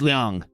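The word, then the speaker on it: Liang: thanks maybe maybe be paired together my name's leang l no leang Leon no l Le Leong Leong Leong right yeah spell it l i a n g okay okay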